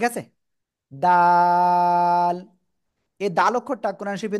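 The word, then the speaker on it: دال: কোন জায়গা থেকে উচ্চারণ হবে? জিহ্বার আগা উপরে দুই দাঁতের গোড়ার সাথে। ঠিক আছে? দাল।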